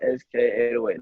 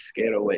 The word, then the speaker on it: SK808: instagram at underscore sk808 it's not sk808 that's not how you say my name it's scared away it's my word you feel me a